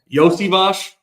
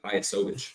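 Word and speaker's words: Iosivas: Like, I had no idea how to pronounce this guy's name, and then I was actually watching the Patriots game. Yosivash.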